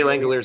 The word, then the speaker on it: Langeliers: I think it's just 10 feet short of athletics catcher Shea Langeliers. Shea Langeliers. I was going to pronounce it French like, and I remember it's not like that.